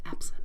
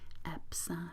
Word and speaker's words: Epsom: in a good bath salt should begin with epsom salts a name which most people actually mispronounce epsom actually spelled most people pronounce it with an Essen and epson but it is at some very interesting this